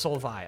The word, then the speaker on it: Solveig: right pronunciation is just Soul VI okay okay we don't even say the g is just Soul VI Silva is my roommate she says the g is silent thank you very much